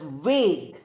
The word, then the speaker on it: vague: Then you have this word vague. Vague means not clear. We say v a and g u and e are not there at all.